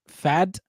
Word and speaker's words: Pfaadt: Pfaadt, Pfaadt. You got to pronounce the T with a D a little bit. Pfaadt.